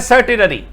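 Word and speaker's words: certiorari: ठीक है, चलो अब यह है सर्टिलरी, ओ साइलेंट है इसमें।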